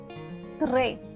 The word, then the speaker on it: très: This is pronounced as A. So the first one is règle. Règle meaning rule. Très.